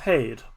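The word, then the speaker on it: Haeth: little bit about the land of hade as h-a-e-t-h unfortunately us irish people at least me i don't know again uh have some difficulty pronouncing th as you may have noticed so uh paid that's how i'm gonna be saying it it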